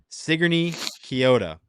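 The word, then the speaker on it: Sigourney-Keota: Sigourney Kyoto and the Cobras. I was always pronouncing it wrong, so I appreciate whoever reached out.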